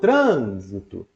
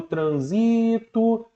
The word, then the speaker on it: trânsito: tá vendendo a palavra Olha o trânsito você não fala olha o transito nem olha o transitor você fala olha o